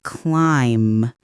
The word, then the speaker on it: climb: The B is silent so it sounds like climb.